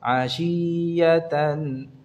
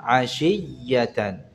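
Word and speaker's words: عشية: yang perlu diperhatikan juga Pengucapan ya tasydidnya jangan dipanjangkan atau dicengkok asiyatan asiyatan ini contoh yang salah yang benar asiyatan di tekan suaranya asiyatan ya asiyatan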